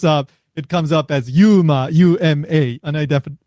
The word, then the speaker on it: UMA: It's pronounced yuma.